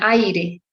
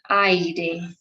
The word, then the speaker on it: aire: just one pronunciation, but in Spanish, remember that that doesn't happen. We pronounce both vowels.